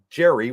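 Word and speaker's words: Gery: He sent me an email, and at the bottom of the email in today's email said it's pronounced Jerry with his name spelt like that.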